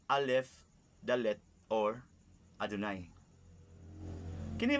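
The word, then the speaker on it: Adonai: I am written y vab and I am pronounce Al Dal or adunay kini m gisulat sa Encyclopedia judaica tungod saado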